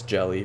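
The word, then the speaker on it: Gehlee: jelly or I mean someone said it's pronounced as jelly but g hle e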